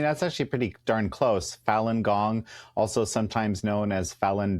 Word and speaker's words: Falun Gong: How is it pronounced? So I mean, that's actually pretty darn close. Falun Gong, also sometimes known as Falun Dafa.